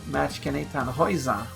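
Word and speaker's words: Matikanetannhauser: But eventually, Machkenetan Hoiza, which is how you pronounce it, was added, and I was surprised to learn after I pulled her that she was a 2 star.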